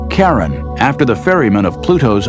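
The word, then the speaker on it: Charon: christie suggested the name karen after the ferryman of pluto's underworld in greek mythology but preferred to pronounce it sharon more like his wife's name charlene from the motions of pluto and sharon astronomers could work out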